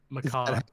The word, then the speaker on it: macabre: Is that macabre? Is that how it's Macabre. pronounced?